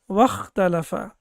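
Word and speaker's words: وَاخْتَلَفَ: But when we have waw before it with fatha, then it becomes wakhtalafa. Then as we know that this hamza will not be pronounced.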